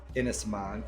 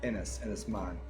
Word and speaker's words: Innisman: Here is Innisman, and that's how that's pronounced. A lot of our friends would be named I-N-N-I-S, Innis, in a similar word in the Irish Sea. Innisman.